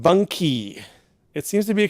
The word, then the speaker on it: bunkie: have originated in Ontario it's a short form of bunk house so it's pronounced bunky it seems to be